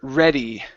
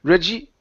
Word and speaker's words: ready: Okay, let's go to the word ready. Right here, instead of saying Reggie, okay, give me the E sound at the end.